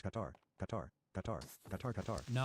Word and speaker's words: Qatar: Katar is not pronounced cutter. It's pronounced Qatar. Qatar. Qatar. Katar. Katar. No, it's pronounced cutter. There's no vowels. If you pronounce it in Arabic, it would sound mostly like cutter.